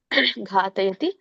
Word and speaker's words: ಘಾತಯತಿ: ಶಃ ಪಾರ್ಥ ಕಂ ಘಾತಯತಿ ದೊಡ್ಡ ಘಾ ಇದೆ. ಸೊ ಹಾಗಾಗಿ ನೀವು ದೀರ್ಘವಾಗಿ ಉಚ್ಚಾರಿಸಬೇಕು. ಘಾತಯತಿ ಹಂತಿಕಂ ಮ ವ್ಯಂಜನ ಇದೆ.